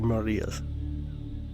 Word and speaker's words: maria: Or Marias, if you want to say it, or pronounce it correctly, Marias.